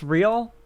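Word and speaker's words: rial: to 331 200 real is it pronounced real I'm pretty sure it's pronounced real pronounce it pronounce it pronounce it come on Google real yep it's real cool um the real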